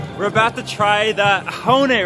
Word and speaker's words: Axone: Your pronunciation is really bad, man. It's ahone. Ahone. Yeah. Wait, you've got to really say ahone from your throat.